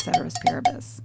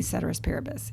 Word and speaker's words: ceteris paribus: That's called ceteris paribus.